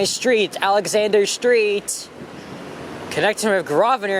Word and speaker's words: Grosvenor: Connecting with Grosvenor, and that's the correct way to pronounce it. The S is silent.